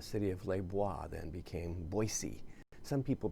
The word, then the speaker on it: Boise: boise state football well no it's not boise it's boise i don't know why